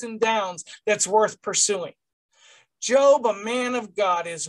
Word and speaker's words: Job: life it isn't job's job that's worth pursuing so when you read the title of tonight's class it wasn't pronounced job at all it was pronounced job a job worth pursuing